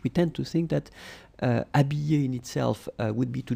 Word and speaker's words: habiller: And remember, we saw that previously, E followed by two L's, like here, will be pronounced like y, t'habiller, t'habiller.